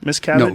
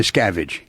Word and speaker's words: Miscavige: wrote it's called ruthless with the correct pronunciation it's cabbage miss cabbage no miscavige miscap yeah the actual